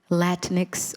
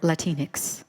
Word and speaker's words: Latinx: In addition, Danny, you said that you wanted your CLC project to bring queer, can I pronounce it Latinx or Latinx? Mm-hmm. Either way? Yeah. Tomato, tomato?